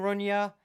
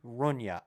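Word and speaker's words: Rugna: he's an Argentinian director I believe it's pronounced Damien Runa r u GNA a well that will be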